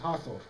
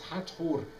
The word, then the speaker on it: Hathor: And I insist always on pronouncing the name in the Egyptian way, because it has a meaning.